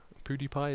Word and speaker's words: PewDiePie: seen channels like PewDiePie PewDiePie is how you say it PewDiePie um he has